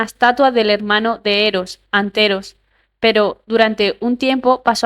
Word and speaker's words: Anteros: Ron, por alguna razón, había tenido cierta dificultad con el nombre Anteros y lo pronunciaba mal, Antros, lo que solo la irritaba aún más.